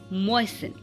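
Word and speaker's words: moisten: Okay, यहाँ पे क्रिस्टमस नहीं पढ़ते हैं, क्रिसमस, लिसन, फासन एंड मॉइसन।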